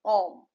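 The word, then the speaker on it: homme: Ash ash is silent in most cases. So example is om.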